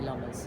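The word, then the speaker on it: Lommers: Apparently it's pronounced Lomas. I say Lomas.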